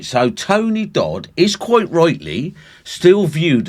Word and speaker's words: Dodd: Todd or Dodd, sorry. I think I think it's pronounced Dodd, would continue to see this mysterious craft.